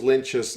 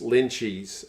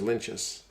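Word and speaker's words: Lienert: or two ago and everyone calls lynchus lynchies and he's like there's no cheese in my name lynchus i'm pretty sure it's lentis but he definitely said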